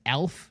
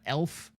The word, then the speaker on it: ALF: Additionally to that one, it is ALF, not ELF as far as like any younger viewers, in case you couldn't hear the the subtle pronunciation difference.